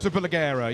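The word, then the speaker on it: Superleggera: Super Leggera, yes, the lightweight Panigale.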